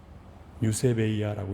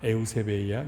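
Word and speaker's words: εὐσέβεια: 여러분 경거는 헬라오로 유세베이아라고 읽습니다. 에우세베이야 유세베이아라고 있는데 여기서 에우는 좋은 잘이란 뜻이고요.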